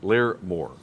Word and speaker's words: Larmore: But it's Larry Moore. Depends on what region you're in.